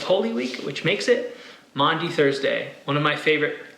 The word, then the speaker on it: Maundy: Week which makes it Maundy Thursday one of my favorite Christian holidays you heard me right it's Maundy Thursday not Monday Thursday Monte comes from an